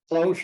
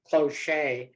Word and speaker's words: cloche: too thanks Joe and thanks for correcting my pronunciation cloche I think I was pronouncing it closure so you can tell